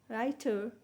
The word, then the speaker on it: writer: is called aspiration then writer here we know w is silent and the stresses initial ra sound writer and then in eight